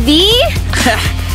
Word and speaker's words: Vy: - Spy Ninjas, Vy and Daniel! - Oh, well, it's pronounced VEE.